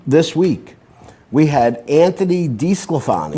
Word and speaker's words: DeSclafani: the same game this week, we had Anthony DeSclafani. Right. And Jay Bruce. Yep. Playing in the same game. That's right. Well, it's DeSclafani. It's D-E-S, right? It's D-E-S, but it's pronounced the same thing. It's pronounced DeSclafani.